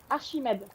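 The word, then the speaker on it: Archimède: Ashimed. Yeah, I know. Ashim like this. Yeah. Yeah. The the ch makes a shh sound in French, not a c sound.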